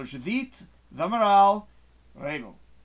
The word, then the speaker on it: Judite Rego: Okay, that's how you say it in Portuguese. So I'm going to say it properly the way it should be said. So Judite Rego.